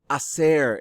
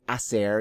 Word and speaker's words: hacer: Hacer is a really useful verb to use because we're always asking, what did you do over the weekend? And so this is the verb. Remember, the H is silent.